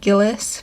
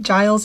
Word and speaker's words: Giles: They pronounced it Gillis, but Giles is like the more accepted pronunciation.